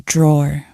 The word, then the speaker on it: drawer: table this is a drawer like I said be careful because in British English we don't pronounce the e at the end we just say draw here we have my